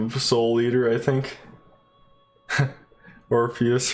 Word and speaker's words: Orpheus: Orpheus rhymes with Morpheus.